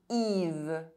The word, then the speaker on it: Yves: Y is pronounced I when at the beginning of a word and followed by a consonant. Yves.